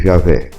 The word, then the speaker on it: Javé: Alguns pronunciam Jeová, outros Javé, mas o fato é que